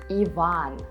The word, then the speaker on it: Иван: In Russian, these names sound as Ivan, Denis, Valery.